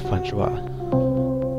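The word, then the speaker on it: François: I think it's pronounced Francois. Feel free to correct me if I'm wrong.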